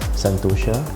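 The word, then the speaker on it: Sentosa: it's titled cor memory santosa or pronounced as santosa and um it's an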